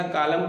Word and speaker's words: column: COLUMN, M के बाद इसमें भी N आता है, हम इसमें N का उच्चारण नहीं करते हैं, सीधा कालम पढ़ते हैं।